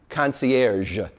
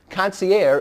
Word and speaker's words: concierge: or his name correctly coner that's how the French pronounce it conier is an affectation if you can't pronounce